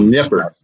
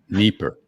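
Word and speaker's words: Dnipro: this this feedback is I call it Nipper but all right Kevin you want to weigh in on that what's the right pronunciation do you have a vote okay neeper okay yeah e like Irina okay all right this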